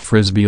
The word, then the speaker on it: Frisby: The title was shortened for the movie, and Frisbee, which is pronounced like Frisbee, was changed to Brisby to avoid trademark problems with Wham-O, the company that makes America's favorite flying disc.